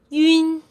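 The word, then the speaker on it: ün: This is pronounced as yun, yun. As long as you can pronounce yu correctly, you just need to add the n at the end, okay?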